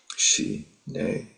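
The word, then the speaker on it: ཞི་གནས: the term shamata which in Tibetan is she nay is two syllables and the meaning of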